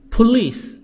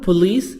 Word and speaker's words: police: Police. This word police not police. خلي بالنا الكلمة دي نطقها police in English British و American مش police.